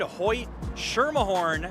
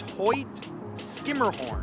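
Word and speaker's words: Hoyt–Schermerhorn: it ho hmer Mahorn yeah if you said Hoy sherah horn you would be incorrect the proper pronunciation is Hoy skimmerhorn and I have even messed that up on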